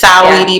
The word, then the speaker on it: Saweetie: I think it's Saweetie, but I'm calling her Sweetie.